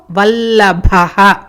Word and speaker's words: వల్లభః: సో పాణిశ్చ ఖట్వాంగి, ఖ మహాప్రాణ, ఖట్వాంగీ గీ దీర్ఘం, ఖట్వాంగీ విష్ణు వల్లభః, వల్లభ భ మహాప్రాణ.